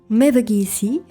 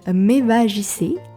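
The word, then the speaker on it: Mevagissey: À quelques minutes des jardins, nous avons le très beau port de Mevagi. Donc avec une prononciation française, ça donne Mev JC, un petit peu moins charmant.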